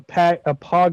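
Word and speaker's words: PAWG: A pog is spelled P A WG, which is a fat ass white girl.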